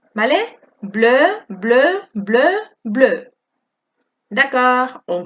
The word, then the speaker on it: bleu: D'accord, on continue avec la couleur bleue. Nous avons la phrase un anorak bleu, une robe bleue, des escarpins bleus, des chaussettes bleues. Aquí también pronunciamos todo igual. Bleu, bleu, bleu, bleu.